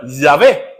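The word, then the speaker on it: Yahweh: el pentagramatón Sí y H W H que es como impronunciable se le agregan las vocales para pronunciar llave Sí y este este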